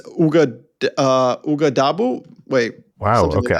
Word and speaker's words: Ouagadougou: Yes, it's Ouagadougou. Wait, Wow. something Okay. like I wasn't even going to try to pronounce it, but I see that you have it there.